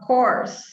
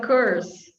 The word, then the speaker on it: course: breath okay next one course instead of curse english course sometimes they say curse all right well there